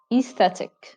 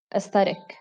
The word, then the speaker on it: aesthetic: Well, the British pronounce it aesthetic. Aesthetic. While American pronounce it aesthetic.